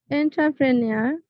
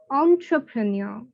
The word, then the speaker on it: entrepreneur: Entrepreneur, entrepreneur, not entrepreneur.